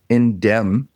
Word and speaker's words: Indemn: We have Kyle Gagan with us, the CEO and co-founder of Indem AI. Did I say that right? Indem. The M is silent.